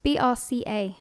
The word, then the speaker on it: BRCA: BRCA. BRCA, that's it. That's how you spell it.